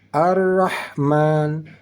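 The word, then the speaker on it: الرحمن: dalam kalimat Arrahman yaitu kita fokusnya kepada huruf ha ha yang di tengah kalimat Arrahman di sini yaitu ha letaknya di tengah kerongkongan di tengah kerongkongan Bagaimana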